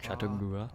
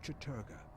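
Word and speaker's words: Chattur'gha: They are the Black Heart of Mantarok, Claw of Chatagura. of Chaturga, Chaturga, sorry.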